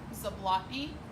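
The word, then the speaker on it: Zablotney: first question, can you say her name, spell it for us, please? Zablotny, B-A-R-B, Z-A-B-L-O-T-N-E-Y.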